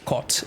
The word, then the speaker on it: kot: Kot. How do you pronounce it? Like kot? In Polish? Yeah.